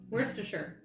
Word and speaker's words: Worcestershire: a chuck in there where's the shirt is how i was told to say it but that skips a whole syllable where chestershire is how it's spelled anyway there's no expiring